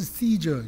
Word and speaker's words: 시저: 근데 그의 아버지가 율리어스 시저, 율리어스 카이사르. 발음에 따라서 카이사르, 시저. 그다음에 성경에는 가이사, 이게 가이사 이렇게 얘기해.